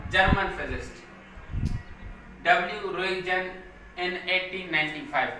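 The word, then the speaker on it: Röntgen: रोइजन, इसमें टी जो है वो हमारी क्या है? साइलेंट है।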